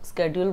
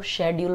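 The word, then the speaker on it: schedule: Arrival, departure, ये सब, तो उसको स्केड्यूल बोलते हैं। और अगर इस वर्ड को ब्रिटिशर्स को प्रोनाउंस करना तो वो कैसे करते हैं, वो शेड्यूल बोलते हैं।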